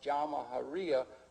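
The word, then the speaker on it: Jamahiriya: You'll hear Colonel Gaddafi talk about the Jamahariya, pronounced Jamahariya, which roughly translates, in an Arabic term, which roughly translates out the state of the masses.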